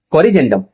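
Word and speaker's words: corrigendum: कोरजेंडम। बच्चों देखो जी के बाद में क्या आ रहा है? इ आ रहा है। तो ज का उच्चारण करेंगे।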